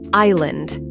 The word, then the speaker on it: island: Island. The S is silent, pronounced island.